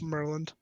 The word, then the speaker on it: Murlynd: It's Merland. Yeah, I Dr. liked Merlin. Ed's pronunciation better.